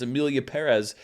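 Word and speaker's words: Emilia Pérez: corrected and rightfully so because the accent mark is right there it's Amelia Perez but nobody seemed to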